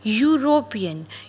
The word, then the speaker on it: European: e is silent and we say european u sound is there that's why we put a here a unicycle again the